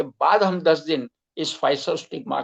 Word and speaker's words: Physostigma: उसका स्पेलिंग है PHYSOSTIGMA PHYSOSTIGMA। उच्चार उसका है फाइसोस्टिग्मा।